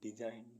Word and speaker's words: design: DESIGN डिजाइन, डिजाइन means नमूने या रचना।